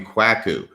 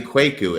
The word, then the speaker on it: Kwaku: always just tell people think of like a quaker like quaker oats but instead of earth